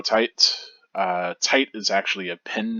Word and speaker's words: Tite: By the way, I pronounced the name Kubo Tight.